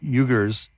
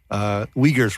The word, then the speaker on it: Uyghurs: using this to monitor the eugers uyghurs rather is how you say it the uyghurs in northwest